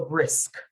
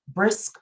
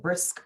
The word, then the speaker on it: brisk: the k is so brisk okay so you're talking about exercises um brisk walks are good right now you don't want to say bris okay brisk walks are good pronounce the k and p h is